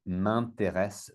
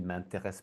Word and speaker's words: m'intéressent: Donc, rappelez-vous, si c'est pluriel, c'est ENT. Mais c'est la même prononciation. Donc, par exemple, moi, je suis prof de langue. Donc, les langues m'intéressent beaucoup.